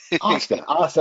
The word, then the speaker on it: hasta: Hasta. That's right. Don't pronounce the H.